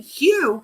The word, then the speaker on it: Hu: No one's been singing Hugh for many years. It Paul Twitchell started that in 1965. They've only been singing it since 1965. Damn it. You know, pronounced as Q.